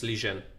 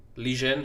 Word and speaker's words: Liren: I asked what is the right way to pronounce the Liren, and in fact it's Lijian. Lijian is the right way. Ding Lijian.